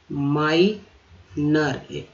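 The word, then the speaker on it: minor: नाबालिग, माइनर, ओ आर को भी र पढ़ा जाता है, तो एन में लग गया तो नर हो गया, और आई का उच्चारण यहाँ पर आई के तरह हुआ, तो क्या हो गया, माइनर।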